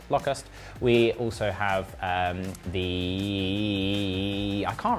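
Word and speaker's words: Lokhust: The R is silent in that, hence why it's Locust.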